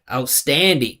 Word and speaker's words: outstanding: outstanding perform outstanding so right he needs to make out small this is a case where the vowel it exists but it's unstressed he needs to put all the pitches standing listen to me outstanding he's saying outstanding I'm saying outstanding and let's listen to how he says performance.